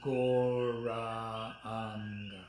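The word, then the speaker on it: Gauranga: And we're going to stretch it out into 4 syllables, Goranga.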